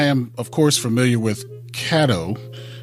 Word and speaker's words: Caddo: No, I mean, I am, of course, familiar with Caddo. I used to pronounce it wrong. I'd be like Cato all the time, and then I've been corrected a few times.